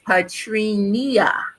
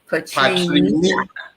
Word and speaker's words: Petrina: It's my mother put an extra syllable in my name, so it's Petrina. Petrina.